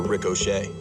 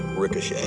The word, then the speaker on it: ricochet: Pretty much the way the rest of the planet does. Ricochet. Well, it's Rick O'Shea.